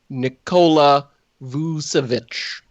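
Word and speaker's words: Nikola Vučević: of them except for nicola vusavich that's pretty good pronunciation yeah you got it right uh i have no idea who that is uh vucevic is a big man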